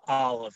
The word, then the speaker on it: Olaf: or his name but it's pronounced olive and sometime and sometimes misspelled uh his so it's i believe he's norwegian uh and it's his real name his name is anthony olive uh but uh olaf